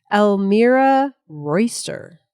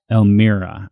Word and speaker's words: Elmira Royster: How do you say her name? Elmira Royster. Elmira. I didn't want to misspeak there.